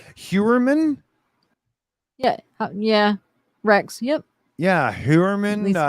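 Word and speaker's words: Heuermann: Yeah, Hewerman. It looks like it's Tag Hewer kind of, pronunciation.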